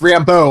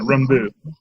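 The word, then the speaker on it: Rambeau: either she's gonna build the last name is pronounced rainbow I told you you know I was trying to put more of a French pronunciation at rembu there from Louisiana what am I supposed to down in the Bayou any other thoughts well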